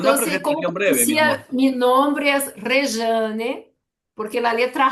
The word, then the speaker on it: Rejane: Pero no decía, "Mi nombre es Reane porque la letra J en portugués hay un sol de Y. Se escribe rejane, se pronuncia rejane como una buena brasileña, ¿no?